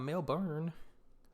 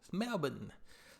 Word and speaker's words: Melbourne: saying in the beginning is Brisbane it's not Melbourne Melbourne so but y'all go check that out my